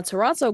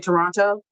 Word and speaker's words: Toronto: because I kept saying Toronto. The T silent. The second one. I never heard of a silent T. People say Toronto?